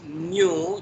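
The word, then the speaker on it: ν: it is a v actually it is not V it is a Greek later and it is new that is the pronunciation but you you can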